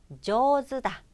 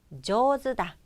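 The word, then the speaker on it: 上手だ: 예 어 그 다음에 장음 신경써주시고 저도 다 저드 다 라고 합니다 요거 두 번 발음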